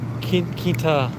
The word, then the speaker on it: Quintanilla: Quintanilla.